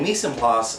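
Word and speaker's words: mise en place: they're spending time uh more quality me PL that's spelled m i s e e n p l a c e and Mis and plas um that is going to be one of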